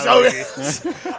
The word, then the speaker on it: Waluigi: I'll go with Waluigi.